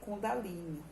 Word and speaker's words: Kundalini: A Kundalini, pronuncia-se Kundalini, é uma palavra sânscrita feminina que designa a